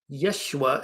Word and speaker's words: Yeshua: So Joshua or Yeshua as a more proper pronunciation in this story represents the uh that consciousness that leads you into the light.